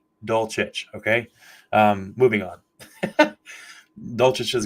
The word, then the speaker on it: Dulcich: Everybody is butchering his name, and I'm not picking on anybody here, but just so you know, the way you pronounce it is Dulcich. Dulcich, okay?